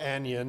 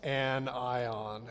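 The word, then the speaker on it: anion: And again, you don't pronounce that like onion. It's not onion. It's an ion.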